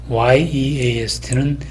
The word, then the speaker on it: yeast: 마찬가지로 east, east는 여기에 성문 파열음을 넣어서 east 그렇게 발음하는 데 비해서 yeast는 성문 파열음에 삽입이 없이 그냥 east 이런 식으로 발음이 되고, ear은 마찬가지로 성문 파열음이 삽입됩니다.